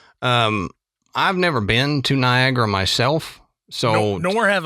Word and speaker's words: Niagara: Now, let's talk about Niagara Falls or as it looks when you write it, Niagara. Yeah, right. I never spell it right. Even though Niagara, there's an extra A in there to me when I say it. Niagara, I think it's N I A G R A.